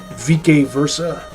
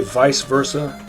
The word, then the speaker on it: vice versa: extroverted side to you or vik Versa, I think, is the classical Latin pronunciation. Normal people would say vice versa, but I'm not normal people.